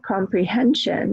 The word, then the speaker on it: comprehension: So if we look at the word comprehension, how many syllables are there? Comprehension, comprehension, 4, right? Where is the stress? Comprehension. Hen is the strongest syllable.